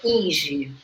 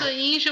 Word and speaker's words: Inge: Olha, na pronúncia eu me criei sempre sendo Ing, porque ele é um nome estrangeiro e ele na sua origem se pronuncia Ing. Mas Inge eu também atendo porque ele se escreve Inge.